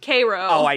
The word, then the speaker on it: Cairo: It's pronounced Cairo.